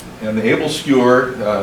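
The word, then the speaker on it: æbleskiver: uh is the uh able skewer and the able skewer uh it's pronounced skewer even though it says s k i v e r I've had my Danish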